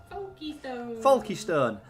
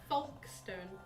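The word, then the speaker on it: Folkestone: spelt it right richard that's not how you say it he was like porky stone foxton foxton foxton and he's like folkstone paul keystone folky stone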